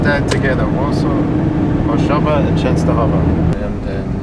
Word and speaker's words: Częstochowa: Huza is still works of Częstochowa. And W is pronounced V.